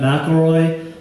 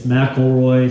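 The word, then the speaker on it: McElroy: ever get the chance it's mroy spelled like it sounds m c e l r o y and his books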